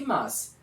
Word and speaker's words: mas: Pessoal, na pronúncia, essas palavras têm a mesma sonoridade, parecidas, são muito próximas à sua sonoridade, à sua pronúncia. Ó, mais e mas. Tá vendo que o i ele fica quase que sem som.